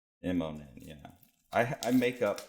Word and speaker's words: Immonen: Am I pronouncing that right? Immonen, yeah.